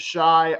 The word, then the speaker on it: Shai: He pronounces it Shy, I believe, better defender this series.